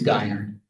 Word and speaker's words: Geiner: I just want to check, is it Ginner? Is that how it's pronounced? It's Geiner. Geiner? Geiner. Okay.